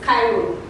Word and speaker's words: Cairo: Cairo. I'll give it to you. The right pronunciation is Cairo.